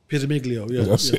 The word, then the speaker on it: Pizzamiglio: How do you pronounce the guy's surname? It was Pizzamiglio.